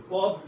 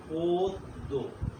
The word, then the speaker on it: পদ্য: এই যে তুমি দেখো গদ্য, এরপরে পদ্য নয়, উচ্চারণটা হবে পদ্য, না?